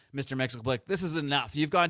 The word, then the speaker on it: Mxyzptlk: So Mxyzptlk is getting increasingly frustrated with Kane not being able to pronounce his name, and he keeps correcting him. He says, no, it's Mxyzptlk.